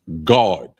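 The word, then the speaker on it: גד: So the next word is coriander, and it's pronounced God.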